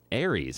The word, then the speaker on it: Aries: And now I'm an Aries, and I don't even know what that is. I don't even know. It rhymes with fairies.